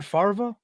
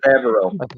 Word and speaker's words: Favreau: John Farva, that's how you Yeah. say his name, right? Favreau.